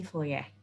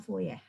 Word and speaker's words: Fourier: deret fourier dan transformasi fourier Nah itu tulisannya kurir ya itu bahasa Perancis Kebanyakan orang badannya fourier gitu sesuai dengan Bahasa Indonesia tetapi itu kalau dalam bahasa Perancis bacanya foya itu jadi yang kita